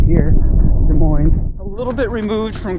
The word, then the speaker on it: Des Moines: And yes, it is pronounced Des Moines in Washington, not Des Moines, because Des Moines is in Iowa.